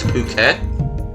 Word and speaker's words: Phuket: Yes, I know how that looks like it should be pronounced, but it's not. It's Phuket.